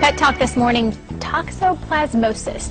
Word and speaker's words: toxoplasmosis: Talk this morning, toxoplasmosis. Did I say it correctly? Very good, very good. I had to practice that one.